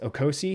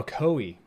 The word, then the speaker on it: Ocoee: bracey of oh boy i don't know how to pronounce this okosi ocoee i looked it up oh ocoee all right state senator